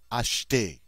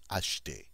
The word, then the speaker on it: acheter: Notice this E here, between the H and the T, is silent. We don't really say it. Acheter. And that means to buy. Acheter.